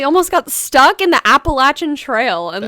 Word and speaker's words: Appalachian: I thought it was Appalachian, but it's actually Appalachian because it's named after a Native American tribe, I think. Oh wow. So it's pronounced Appalachian.